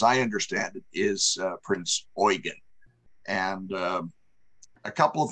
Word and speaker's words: Prinz Eugen: Oregon now uh for for all of us uh English speakers it looks like Eugene without the e at the end uh the pronunciation in German as I understand it is uh Prince Oregon and uh a couple